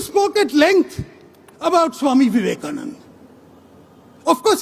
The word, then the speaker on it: Vivekananda: Mani spoke at length about Swami Vivekananda. Of course, he got one thing wrong. It is pronounced Swami Vivekananda, but Hindutva wasn't created.